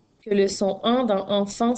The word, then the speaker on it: enfant: Alors, dans le mot enfant, tu as deux fois le son en. Le premier s'écrit A-N, E-N et le deuxième s'écrit A-N. Attention, il y a aussi la liaison que tu entends. Un enfant. Donc, tu entends la liaison du N avec la voyelle.